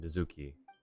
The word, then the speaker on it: Mizuki: All right, let's see how she pronounced the name. Don't tell Mizuki about our conversation. If she asks, just say that you figured it out all by yourself. She said Mizuki.